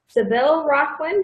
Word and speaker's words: Savelle-Rocklin: I'm being joined by dr. Seville Rocklin did I get that's pronounced right right thank you okay I've heard interesting permutations of my name you got it right okay all right so